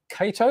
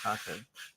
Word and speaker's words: Kato: I say Kato. You say Kato? Yeah, I'm Yeah. from the south side of the river and we say Kato. Right. Well, that's a Japanese pronunciation. So Kato it is.